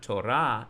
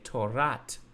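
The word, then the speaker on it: תּוֹרַת: Like if I say the Torah of truth, I say not Torah emet, I say Torat emet.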